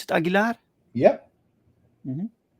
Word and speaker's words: Aguilar: featuring the lovely heroine Alina Aguilar did you pronounce it agilar yep MH right you have 22 backers excellent